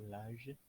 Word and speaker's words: l'âge: Bonjour à tous, hari ini materi kita yaitu l'âge atau usia.